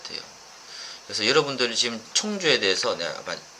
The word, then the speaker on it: 청주: 그래서 여러분들이 지금 청주에 대해서, 내가 발음이 안 돼. 충주가 아니고 청주예요, 청주.